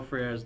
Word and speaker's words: Freire: I mean, how do you pronounce Paulo Freire's name? It's Freire. Freire, okay. The more Spanish inclined you are, I guess the more you're gonna kind of want to pronounce it out.